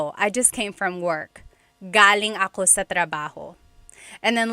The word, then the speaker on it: galing: So, galing, the emphasis is on the first syllable. That means coming from. David Jr. on Instagram just asked the same question too. Galing means good or great. So if the emphasis is on the second syllable, galing, that means good or great or excellent.